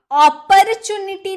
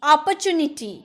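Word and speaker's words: opportunity: अपॉर्चुनिटी नहीं, अपॉर्चुनिटी। अपॉर्चुनिटी, र silent, अपॉर्चुनिटी।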